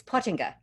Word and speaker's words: Pottinga: It's Pottinga.